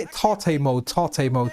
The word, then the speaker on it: Tate: Tate mode. I always read it as tape mode, but I know it's Tate mode.